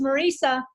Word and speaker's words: Marisa: Marissa, are you on the call? I thought I saw you there. I'm here, but my name is Marisa.